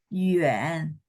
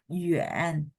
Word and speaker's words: 远: 远 Yuan. 远 Nada 3 ya di ayun nggak apa-apa. Yuan 远 28 9 很好 9.